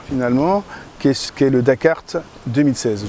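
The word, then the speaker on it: Dak'Art: qui qui est le dakart 2016 je dis dakart parce que c'est un jeu de mot enfin c'est comme ça que ça s'écrit DC apostrophe à RT et donc dakart 2016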